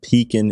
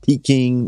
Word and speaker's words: Pekin: been doing business with pekin insurance for several years not peaking not pecking as some of our customers often mispronounce it pekin insurance has a